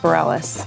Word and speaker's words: Bareilles: Tell me your last name, how to say it. Bareilles. Sure, but how do your friends say it? Like? Just Bareilles, yeah.